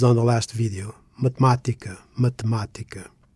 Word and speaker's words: matemática: Mathematica. In mathematica, the stress falls on ma, which is the third syllable from the end, not the second from the end.